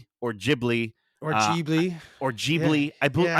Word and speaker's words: Ghibli: started the review, and I think Ghibli is how Hayao Miyazaki pronounces it. So I think maybe that's the Japanese pronunciation. And then I've heard a lot of people in the West will say Ghibli.